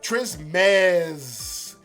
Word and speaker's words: Trismegistus: Hard E on the me. Trismegistus.